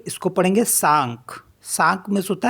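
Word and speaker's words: cinq: है एंड सी आई एन के इसको पढ़ेंगे सांक सांक मेंस होता है फाइव सी ओ यू एस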